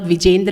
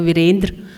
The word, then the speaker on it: Virendra: Virendra, and I'm the one who is pronouncing the name right. He is not Vijendra, he is Dr. Virendra.